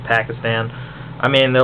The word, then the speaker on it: Pakistan: It was like when they jumped on Obama's shit for his pronunciation of Pakistan, I believe is the proper pronunciation, Pakistan.